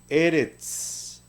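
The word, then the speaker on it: ארץ: Entonces, esta palabra, por lo tanto, se va a pronunciar eretz. Eretz. Vea que la S al final de la palabra representa el sonido de la tzadi.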